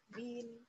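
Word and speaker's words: بٍ: Kalau dapat kasrotain berarti nanti bacanya bin.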